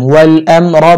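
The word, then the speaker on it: والأمر: আলিফ মিম জবর আম ওয়াল আম রা পেশ রু ওয়াল আমরু রা মোটা করে উচ্চারণ করবেন ওয়াল আমরু ইয়া ওয়াও জবর ইয়াও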